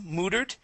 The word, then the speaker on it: muttered: locked L great okay this word here is muttered with an uh sound instead of a o muttered M muttered muttered there